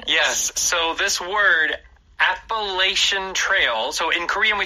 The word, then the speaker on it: Appalachian: yes so this word appalation Trail so in Korean we talk yeah so in English this last part the CH like you said with an a sh sound appalation right that's also how